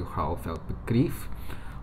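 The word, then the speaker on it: Rauh-Welt Begriff: the RWB, the Rauwelt, if you're pronouncing it in German, although the guy whose name I forgot, Akira Nakai-san or something like that, who once founded the company, was Japanese, so I don't know how he would pronounce it, but going for German, it'd be Rauwelt Begriff, rough world.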